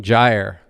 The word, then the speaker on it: gyre: the widening and widening gyre which is actually the preferred pronunciation I've heard the poem both ways but the widening and